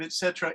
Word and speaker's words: etc.: They say etc. It's spelled etc. The pronunciation of etc. is etc.